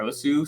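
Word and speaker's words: osu!: One notably called Os, or Osu. Some people pronounce it that way.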